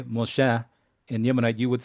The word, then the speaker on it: Moshe: is the name of Moses in Yemenite just pronounced Moshe Moshe where in modern Hebrew was Moshe for example um so that's a the dialectual differences is uh to me are very interesting.